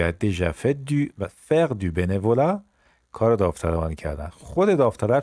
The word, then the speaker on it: bénévolat: bénévolat تیش هم تلفظ نمیشه.